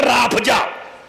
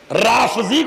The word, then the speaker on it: رافضی: شیعہ، اچھا کوتا رافضی، کسی کا تو تلفظ بھی نہیں ٹھیک ہوتا ملعون کا، کہتا رافضہ، رافضی کو کہتے ہیں، رافضی یعنی ہم